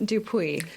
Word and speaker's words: Dupuis: right Lindsay it's um dupu dup it's a French name in English it's dupu in French it would